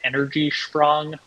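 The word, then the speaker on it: Energiesprong: It's called energy sprong, energy spelled with an IE, SPRONG.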